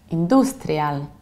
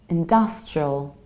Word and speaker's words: industrial: office in this one it's not industrial like industry honor but its industrial and dust show distressed dust like dust industrial and I also reduce the ending its industrial in the